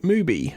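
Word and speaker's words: MUBI: But is it cuz it's Mo movie is it Movie? Is that how you produce pronounce it?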